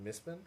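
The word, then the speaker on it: Mistborn: can't help you but the official pronunciation is misman there's no vow it's BN like if you were phonetically transcribing it there would be no like vow in there it just B and N it's misbin like Melbourne like Melbourne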